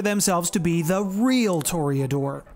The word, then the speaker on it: Toreador: be the real toriadore some of you may come after me for the pronunciation of this such as torrey adore if you really wanted to throw some smug on that i suppose you could do that too but i'm going to call